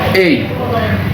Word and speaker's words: A: তার মধ্যে সবচেয়ে গুরুত্বপূর্ণ বর্ণ আমরা একে মনে করি, কারণ এটা একটা প্রথম বর্ণ এবং এর উচ্চারণটা একটু ভিন্ন। তো এর উচ্চারণ আমরা স্বাভাবিকভাবে শিখছি এ, কিন্তু এর সঠিক প্রোনাউন্সিয়েশন বা সঠিক উচ্চারণ আছে এই।